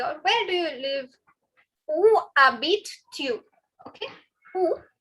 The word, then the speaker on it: Où habites-tu: Où habites-tu? Okay. Où. Please remember, guys, the H is silent, the S is silent.